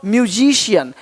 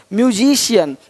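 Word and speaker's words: musician: अब देखो यदि सी के आगे आई ए हो तो सी का उच्चारण श होता है।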